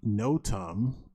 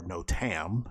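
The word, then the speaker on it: NOTAM: the air FAA systems the no-tum system or no Tam I've seen two pronunciations of it system actually tracks where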